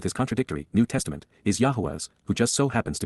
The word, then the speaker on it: Yahowah: Yahowah, Yahowah, the proper pronunciation of the name of Eloah, God as directed in